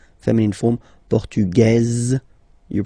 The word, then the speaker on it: portugaise: The only difference between the two, as usually when we'll have some, nationalities ending with AES, like that, and then the feminine form, es, okay, it will be only in this z sound, the difference between the masculine form and the feminine form, okay? Masculine, portugais, you don't pronounce the S.